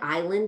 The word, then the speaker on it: island: words as an anchor the word island is a great example that's like a word that we're kind of like oh it's crazy it just has one silent letter and you should acknowledge that silent letter and use everything else